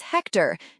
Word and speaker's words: Hector: Question 1 answer is Hector. Note the H is silent.